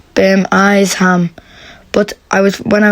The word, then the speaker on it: Birmingham: it was an accident i meant to pronounce it bam eyes ham but i was when i was voice recording i read it out as birmingham and only realized after